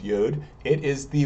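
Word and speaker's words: יוד: started first we have yud or sometimes yod pronounced yod it is the Y it looks like an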